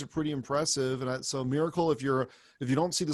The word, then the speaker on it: Mirakl: I mean, I think these guys are pretty impressive, and so Miracle. If you don't see the slides, Miracle is spelled Mirakl. That's Mirakl, and they appear to